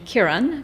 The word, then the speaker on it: Kiran: so now I I I use the pronunciation Kiran well Karan can you